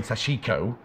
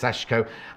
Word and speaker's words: sashiko: want because i was saying it wrong so that saying sashiko no it's sashko and then i did